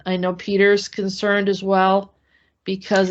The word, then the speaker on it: oui: a written but uh why a pronunciation or pronounced way it's we it means yes yeah yeah pretty much yeah